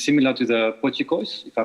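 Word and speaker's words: potjiekos: And it's similar to the pochicos, if I pronounce it well. Yeah, you got the pochicos. pronunciation right.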